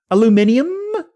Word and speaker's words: aluminium: Aluminium. Aluminium. Aluminium. Okay, this is the UK pronunciation.